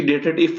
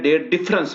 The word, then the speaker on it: DATEDIF: अब देखें डेटेड इफ function जो होता है असल में प्रोनाउंसिएशन इसकी डेटेड इफ नहीं है, डेट डिफरेंस है।